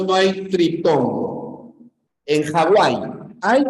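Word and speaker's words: Hawái: nombre ya castellanizado Hawaii Recuerda que la b o la W conand esa suena como una u por lo tanto si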